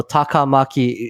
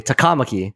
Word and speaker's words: Takamaki: internet regarding that because in Japanese, there's no real emphasis on any syllable. It's not a thing as far as I understand. So Takamaki, it would be said monotone without emphasis. But in the game, they would say Takamaki. They would emphasize that second.